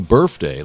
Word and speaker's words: birthday: I was like, "You you're pronouncing birthday like an F." Yeah. But it's a th and she lost her immediately.